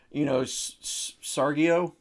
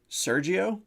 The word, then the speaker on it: Sergio: Like, I'll get my macaroni from Kraft or, Sargio. Sargio? Sargio? I don't know. Well, there's Sargento and there's Sergio. Sergio? Yeah. There's no J in it.